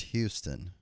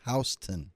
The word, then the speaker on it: Houston: GPS coming here and the street really isn't pronounced Houston. My GPS corrected me. It's pronounced Hston.